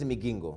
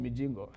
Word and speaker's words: Migingo: Yes, because we call it Migingo. We call it Mijingo. Which we don't understand. Exactly. We don't understand why you call it Migingo, but same rock, but the way we pronounce things is different.